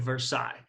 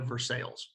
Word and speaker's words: Versailles: happens at this thing the Treaty of Versailles okay or if you're from Indiana Versailles okay but in normal history speak sorry list but normal history speak it's pronounced sigh okay I place the palace